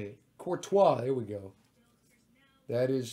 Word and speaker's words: Courtois: Courtois, there we go.